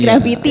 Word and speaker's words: GRVTY: Awalnya nih bingung bacanya grvty apa gimana tapi grafiti ya.